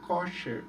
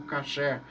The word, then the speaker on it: kosher: A palavra no hebraico é kosher, ou kasher, como alguns pronunciam no hebraico, né?